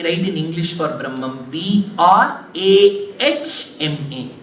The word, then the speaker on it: Brahma: you write that way so if you pronounce it the way it is written how should you pronounce Brahma correct but you see when you pronounce inadvertently you will put the sound of M first brah ha why there is a